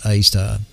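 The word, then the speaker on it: Sagittarius A*: Tucked away in the heart of the Milky Way galaxy is a slumbering giant known as Sagittarius A, pronounced A star.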